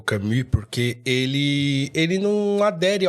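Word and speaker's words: Camus: Albert kamami a gente algumas pessoas chamam de camos né porque se escreve camos mas se lê camu com um I misturado com u camu eh e e o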